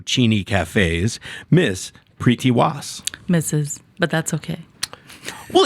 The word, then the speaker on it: Preeti Waas: You said a hard T. You did. I did, right? You did. No, you said it wrong, she's saying. That's okay. Okay. Mrs. Preeti Waas. You roll the R. You didn't really have to, but that's okay.